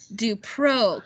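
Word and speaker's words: DuPrau: Sorry, I always think of Peru. Peru, kind of. Dupro. So Jean Dupro. That's her name. And that's how you say it, is like Dupro.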